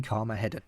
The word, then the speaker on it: Carmageddon: No, I didn't mispronounce it, it is actually Carmageddon.